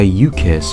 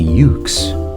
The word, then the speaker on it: Yuke's: Developed by U-KISS and released in 2002, marking the first time something bearing the initials EOE was actually good. Wait, why did he say it like that? It's obviously Yuke's.